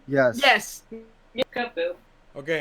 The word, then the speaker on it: Kubfu: part of the DLC, and that is Kubfu. I think is how you pronounce his name. Yes. Yes. Yeah, Kubfu.